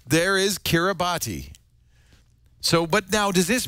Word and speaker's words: Kiribati: mr cara body and call him hello mr kiribati happy new year one there you go it's four in the morning oh good that's all we needed to know thank you it's pronounced kiribati but it's spelled k-i-r-i-b-a-t-i oh we we used